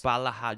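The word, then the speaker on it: Ballaghaderreen: Balahadrine.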